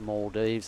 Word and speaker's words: Maldives: the Maldives the Maldives you don't say it the way it's spelled it is the Maldives and it was a